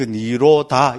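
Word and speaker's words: nirodha: 그대로 읽어버리면 됩니다. 니로다. D, D에 뭐 이런데 H 나온 거는 발음 안 해버리면 됩니다. 그 니로다. 이래 하면 됩니다.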